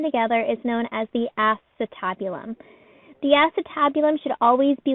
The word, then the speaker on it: acetabulum: Most students want to pronounce this acetabulum, but again, it's acetabulum.